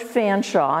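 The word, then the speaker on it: Featherstonhaugh: I brought with me his name is George Fanshawe and it's spelled Featherstone haw he was an English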